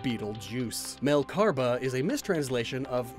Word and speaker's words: Betelgeuse: It shines bread, and its name is pronounced like Betelgeuse.